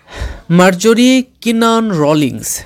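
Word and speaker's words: Marjorie Kinnan Rawlings: ইন মেনিফিল্লি ঠিক আছে এটা অনেকেই তোমরা উচ্চারণ করতে পারছো না মার্জাররি কিনান রোলিংস ঠিক আছে এরপরে দেখো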